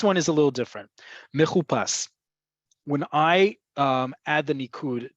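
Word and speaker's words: מחופש: That vav that's added, but no nikud are added, indicates to pronounce it mechupas.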